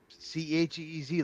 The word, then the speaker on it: Cheez: Cheez, like cheese, it's spelled like that.